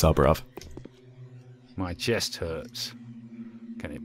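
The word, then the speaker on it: Saburov: is I remember for a long time I mispronounced it subar ROV or something it's soov my chest hurts can it be conscience okay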